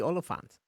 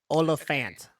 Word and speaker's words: Olyphant: super scary plus timothy oliphant oh sorry yes plus timothy olafant i've been i just learned that i've been saying his name wrong the whole time it's olafant regardless he's the [